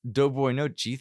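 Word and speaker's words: Доброй ночи: And I said, I don't know how to pronounce that, which is pronounced Dobroy nochi, thank you, and simply means good night.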